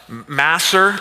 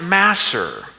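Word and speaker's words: מעשר: It's uh masser is the word. Here is the Greek uh imagery of it or the words or sorry Hebrew. It's a Hebrew word, but it's pronounced masser.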